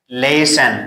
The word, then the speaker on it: listen: So this word is pronounced listen. So here T is silent.